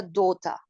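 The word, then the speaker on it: daughter: el siguiente nos dice doder que es hija acabamos de hablar otra vez de pronunciación inglés americano se pronuncia en inglés británicos se pronuncia dota totalmente diferente en el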